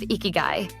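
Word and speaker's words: ikigai: First, there is the concept of ikiguai pronounced eeky.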